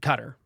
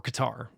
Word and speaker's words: Qatar: mediated through parties in Cutter or Qatar you can pronounce that one either way I have looked that one up and so we're involved